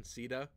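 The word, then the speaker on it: Caeda: Yeah, Shida is like the standard pronunciation. It's the Japanese pronunciation. In Warriors, though, I did notice that they went with the whole Caesar pronunciation, Sida. I don't really like that. It's kind of weird.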